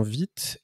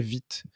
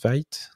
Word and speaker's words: Vite: vu de toc mais je serais pas étonné que la plupart le prononce weit non jeu comme l'insight